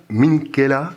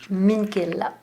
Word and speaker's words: Minchela: Minchella, est-ce que c'est une bonne prononciation? Minchella. Minchella. Il y a un accent tonique en italien.